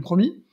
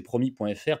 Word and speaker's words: Promy: J'insiste, tous les promoteurs se préinscrivent sur la plateforme du Promis, mais ne deviennent pas adhérents.